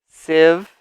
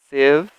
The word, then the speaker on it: sieve: pan skillet strainer strainer sieve sieve just don't say the e here ignore it sieve hot i hob oven